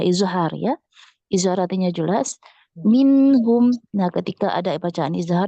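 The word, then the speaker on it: مِنْهُمْ: Kemudian juga pada la'azzabna alladzina kafaru minhum azaban alima. Nah, tidak minhum, tidak ada ne-nya di situ ya.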